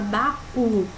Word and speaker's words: baú: primeiramente uma mulher essa palavra que a palavra baú né aí já tem que o acentuado que